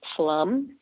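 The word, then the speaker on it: Pflum: And our boundaries run from Plum, that's spelled P-F-L-U-M, and we go over to 435.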